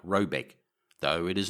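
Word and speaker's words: Råbäck: to be called raybac pronounced something like robec though it is not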